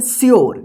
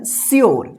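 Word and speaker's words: sure: ई इसको क्या पढ़ेंगे श्यर क्या पढ़ेंगे श्यर श्यर श्यर इसको ध्यान रखिएगा श्यर सूर्य मत पढ़िए या सूर ठीक है ना इसको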